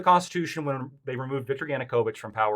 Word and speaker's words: Yanukovych: Lactoid's argument is that Yanovich, I'm going to mispronounce his name. Yanukovych.